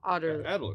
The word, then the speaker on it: Adderley: Am I saying his Adderley? Adderley. Yeah, you're saying it right.